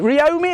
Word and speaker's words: Ryomi: Ryomi is how you say it.